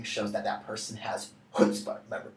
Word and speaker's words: chutzpah: Again, something that galling or annoying shows that that person has chutzpah. Remember, don't pronounce the first C, kind of go chutzpah. And don't spit on anyone because, well, they'll find that galling.